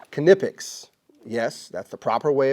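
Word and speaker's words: Knipex: 12 months so this is a company called kipic yes that's the proper way of pronouncing not niic it's called It's pronounced kipic go to their website it'll teach you anyway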